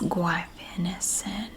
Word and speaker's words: guaifenesin: It has 4 syllables in it. And I know that's a challenge. This is guaifenesin. Guaifenesin.